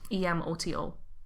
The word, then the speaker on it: Emoto: that the human consciousness, Emoto. Oh, okay. So I said it right. Yeah, I thought it was Emoto, which is like little sister.